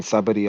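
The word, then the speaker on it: Sabaody: Well, basically, Kuma visited all the places where he sent all the Straw Hats at when it was back in Sabadi Archipelago. That's yeah. how you pronounce it.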